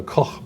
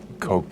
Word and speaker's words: Koch: The correct German pronunciation would be the Koch brothers. Yeah. Koch brothers.